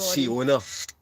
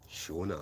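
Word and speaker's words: Seona: Siona, but it's actually pronounced Shona.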